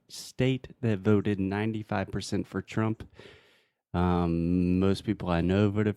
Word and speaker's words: Trump: with the pronunciation of Trump. His name. Yeah. So the most interesting thing here for me is the TR sound in English is totally different from the TR sound in Portuguese.